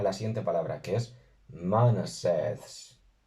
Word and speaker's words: 𐌼𐌰𐌽𐌰𐍃𐌴𐌳𐍃: Aunque humanidad se asocia más bien a la siguiente palabra, que es Manaseths. Manaseths.